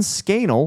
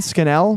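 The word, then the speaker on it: Scannell: Um, Vernon Scanel, who gives a what this guy said. His name rhymes with Scanal, dude. Scathing. Say one more time. Vernon Scanel.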